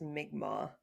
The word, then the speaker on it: Mi'kmaq: Also, it's spelled, the other one's spelled like Micmac, but as we've come to learn, it's pronounced Mi'kmaq.